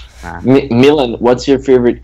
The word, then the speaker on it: Milan: It's like Milan's like how you pronounce the city, right? Yeah. That's why. Milan. That's why. Call me Milan. Call me Milan. It's all the same, you know. Yeah. But in, I pronounce my name, and everyone in Belgium pronounces it as Milan. Milan. So emphasis on the like, Milan. Milan. Milan.